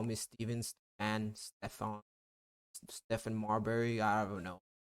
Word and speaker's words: Stephen: actually pronounce with the it is pronounced as Stefan always ask like how